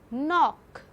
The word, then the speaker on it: knock: b eighth get ninth knock here k is silent but you have to write in spellings k and o c